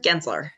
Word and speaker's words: Gensler: Gensler. Gensler. Okay, I pronounced it right.